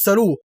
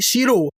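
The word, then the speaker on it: Sheru: هو اسمه الحقيقي مش سارو، هو اسمه الحقيقي شيرو، واللي معناها بالهندي زلايون.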